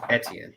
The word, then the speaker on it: Etienne: it just kind of it's like btn but with an e etienne okay um he he's